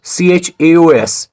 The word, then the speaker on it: chaos: is epitome b-o-u-q-u-e-t is bouquet and the word c-h-a-o-s is pronounced as chaos do you want to know